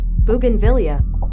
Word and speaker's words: bougainvillea: But then I saw a bunch of red ones, and uh apparently the orange ones uh how's it pronounced again? Bougainvillea.